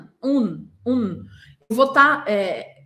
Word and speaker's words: un: Esse un se escreve un, un, un, un. E eu não posso fechar minha boca na hora de pronunciar isso. Eu preciso deixar minha boca entreaberta. Imagina que tem uma caneta aqui, ou o seu dedo mesmo. Un, un. A minha língua não pode encostar nos dentes.